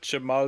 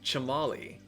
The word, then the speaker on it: Chamali: I mean, his name is Chamali.